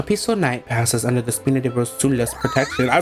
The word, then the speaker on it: Spina di Rosula: A peaceful night passes under the Spina di Rosula's protection.